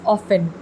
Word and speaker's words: often: to keep in mind we do not pronounce this word often t is silent okay so it is often now often means more